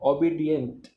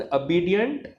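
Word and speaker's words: obedient: सूरज कह रहे हैं we used to pronounce like ओबीडियंट। यस, ओबीडियंटली बोलते हैं ना सारे, हमने भी यही सीखा था बचपन में, ओबीडियंट, obey the teachers, ओबीडियंटली। But this is अबीडियंट, अबे द टीचर्स एंड अबीडियंटली, ठीक है। The correct pronunciation is this.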